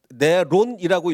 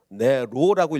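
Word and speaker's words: Nero: 네론이라고 읽으면 헬라식 그리스식으로 읽는 거고, 네로라고 읽으면 라틴식 로마식으로 읽는 겁니다.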